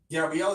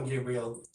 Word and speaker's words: Gabriel: Is it Gabriel or Gabriel? Well, it doesn't matter. Some people pronounce it differently. Okay. Like in my country it's Gabriel, but here in Barbados I find that Gabriel is more common.